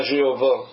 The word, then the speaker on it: Jéhovah: Donc, le nom ici, le Seigneur, c'est son nom propre de Yud-Heh-Vav-Veh, Y-H-V-H, qu'on prononce souvent Jéhovah.